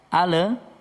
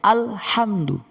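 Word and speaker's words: الحمد: Alhamdu, alhamdu, bacanya harus al, bukan ale. Nanti kalau kita baca ale, ya mohon maaf, ini kita rubah dulu backgroundnya ya. Jadi bacanya bukan alham, bukan ya. Jadi bacanya alhamdu, alhamdu, bukan ale, bukan ya.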